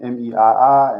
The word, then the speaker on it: MEII: So that being said, the next part is about the mental and emotional intrapsychic infrastructure, which is abbreviated MEII, and I pronounce it me.